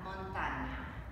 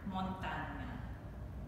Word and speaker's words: montagna: Montagna. Montagna. Posizione della montagna.